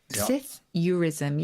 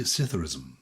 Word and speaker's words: psithurism: In fact, is the P pronounced? Should it just be Psithurism? Well, you can pronounce it either way. That's a good point. The dictionary will give both.